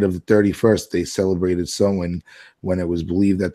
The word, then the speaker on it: Samhain: Freaking ancient Celtic festival of Samhain, but we say it Samhain, right? That's how we Americans would pronounce it nowadays, but it's Samhain.